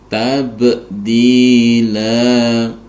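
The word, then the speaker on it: تبديلا: kita baca waqaf, maka fathatain ini diganti dengan fathah, kemudian dipanjangkan 2 harokat atau 1 ayunan, sehingga cara membacanya menjadi tabdila, tabdila. Walau tajida li sunnatillahi tabdila.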